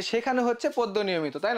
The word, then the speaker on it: শেখানো: এরপরে আমরা কি বলছিলাম, যে শেখানো হচ্ছে পদ্য নিয়মিত, তাই না? শেখানো হচ্ছে পদ্য নিয়মিত। দেখো এটা হচ্ছে শেখানো, শেখানো, এটা কিন্তু শেখান না।